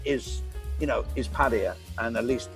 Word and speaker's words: Pattaya: Pattaya, and at least we say it correctly. We don't say Pattaya, right? Pattaya. Oh, Pattaya and Pattaya. As soon as someone starts saying Pattaya, I stop listening to them, really.